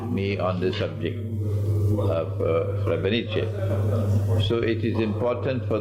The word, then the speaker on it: Srebrenica: I have rejected the claim of the genocide of Srebrenica. That's the correct pronunciation? Srebrenica.